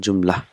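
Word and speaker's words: جملة: we will pronounce it joomla the last letter is not pronounced so first joomla will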